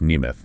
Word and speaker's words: Nemeth: And that's pronounced Neimoth, right? That's right. Johnny Neoth.